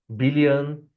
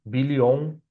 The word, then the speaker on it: billion: I know million and billion is written with O, the letter O, but it is pronounced with a sound. Million billion. No American says million billion with O sound.